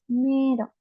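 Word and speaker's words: めいろ: Y como vocabulario tenemos mero esa I no se va a pronunciar porque sirve para extender la e pero no siempre pasa eso es solamente con algunos vocabularios pero no hay reglas de cuándo la i extiende a la e y cuandoo no solamente memoricen que mero se escribe meiro pero se lee mero y significa lavín ustedes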